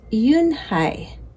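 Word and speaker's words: Unhei: it's spelled u n h e i it's pronounced Yuni oh it's youi the boy said like you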